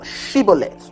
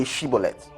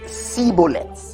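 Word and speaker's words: Shibboleth: then said they unto him say now shibolet is telling them say shibolet and he said see bullets he didn't say properly for he could not frame to pronounce it right then they took him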